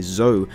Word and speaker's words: Zoe: Of course, our friend Zoe, or shall I say Zoe, as it's pronounced in-game, is very prominent here.